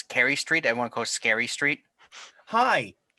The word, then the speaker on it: S. Carey Street: Everyone calls Scary Street. Hi, It's South Carey Street. but Yeah. it's pronounced almost exactly like that. It's Carrie with an S in front of it.